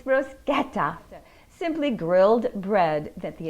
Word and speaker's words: bruschetta: how to make and tell you how to pronounce one of my all-time favorite simple italian dishes bruschetta not bruschetta it's bruschetta simply grilled bread that the italians would dip